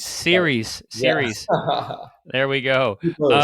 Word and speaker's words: Ceres: Am I pronouncing that correctly? Series. Ceres. Yeah. Ceres.